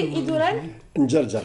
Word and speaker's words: Idourar Njarjar: Alors c'est Idourar Njarjar, c'est la prononciation exacte.